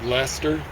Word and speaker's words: Leicester: Leicester or Leices- ter, however you want to mispronounce it.